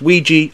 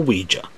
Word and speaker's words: Ouija: Ouija board commonly pronounced Ouija or Ouija a Ouija board is